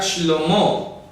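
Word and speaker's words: שלמה: Ejemplo, el nombre de Salomón se escribe sin ninguna Vav y se pronuncia Shlomo.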